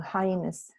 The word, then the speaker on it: hyenas: Que se escribe H-Y. No, hyenas.